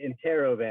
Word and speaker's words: Interrobang: We Interrobang? pronounce it Interrobang.